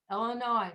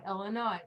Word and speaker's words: Illinois: is very important and unfortunately there are even americans who put the s on it which for me is very very hard to hear it's no ass possible no s illinois illinois illinois hardest state all the